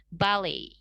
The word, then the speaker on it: ballet: Nah, di sini untuk ballet ya, T-nya itu memang silent, tapi kita sedikit ubah ke sound Y, jadinya ballet. Begitu.